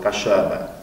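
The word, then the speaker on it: Kaszëbë: Это буква, которая похожа на русскую букву «ё», и произносится как, ну, например, само название кашубов – «кашебе». Вот это такой специфический кашубский звук, который тоже поляков сразу настораживает.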